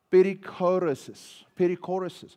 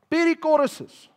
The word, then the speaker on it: Perichoresis: Perichoresis, that's how you pronounce it. Perichoresis, which literally means rotation.